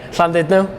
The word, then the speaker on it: Llandudno: Llandudno. So the LL's like it's a sound because it's in Welsh.